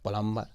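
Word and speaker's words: plumber: में प्लंबर कहते हैं इसके जो बीज है वह साइलेंट रहता है वह आधार नंबर रिएक्शन हम गलत प्रॉमिस करते हैं इसको हम परम भर पड़ते हैं हालांकि ए प्लंबर है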